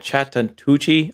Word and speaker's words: Chattahoochee: Chattahoochee.